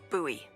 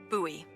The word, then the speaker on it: Bowie: no warning, he pulls out this huge rusty Bowie knife. It's actually pronounced Bowie. What? Oh. No, it's like the last name, like David Bowie. Different last name. Bowie.